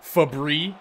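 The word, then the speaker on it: Fabbri: oh nice try robbie or should i call you fabri which apparently is how it's pronounced i had no idea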